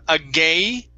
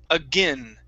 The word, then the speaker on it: again: so the a e typically it would be a long a sound here this is going to be a short i agai again try that again okay one more time instead of a gay again it's a g again again try that again